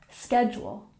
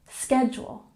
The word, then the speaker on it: schedule: here w w and schedule has emphasis on the first syllable schedule schedule number 23 check in